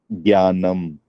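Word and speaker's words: ज्ञानम्: It should be Jnanam or Jyanam. You both are right, actually. Down south, we pronounce nya. So Okay. down south, we pronounce nya, but actual thing, it has to be jnya. Jnya. Jyanam. Yeah. Jnanam. Oh. J becomes a bit silent. Jnanam. Because in Hindi, we always learned it like Gyanam.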